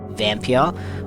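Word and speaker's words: Vampyr: was as enjoyable as Vampia or Vampire. I'm not sure how you pronounce it. It's got a Y in it so I say Vampia.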